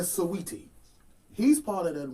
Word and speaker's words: Saweetie: Saweetie. I said Saweetie. Oh, why? I didn't say Sweetie. I said Saweetie. Her name, that woman's name is not Sweetie. I said Saweetie.